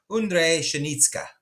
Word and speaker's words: Ondřej Pšenička: 26th is, and I'm going to use their pronunciation, Ondřej Pšenička.